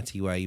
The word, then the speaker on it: TYEX: So I do have an Instagram with my TYE baby, so you can look that up too. The X in there is silent, so it's TYEX baby _ Okay.